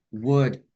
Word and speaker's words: would: Oke, yang pertama untuk L dalam kata could, should, would hilangin semua, Kak Alya.